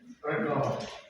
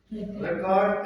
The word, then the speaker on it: record: For example, we say record. Record and record. Yes. So stress on the first syllable, and in verb it is on the second.